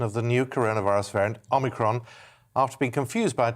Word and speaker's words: Omicron: He says the Greek O should be said as in or, as it is in modern Greek. He insists the variant is therefore said like Omicron.